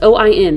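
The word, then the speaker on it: Óin: that's how it's pronounced it's o-i-n so it's not owen but it's like oin i think and he is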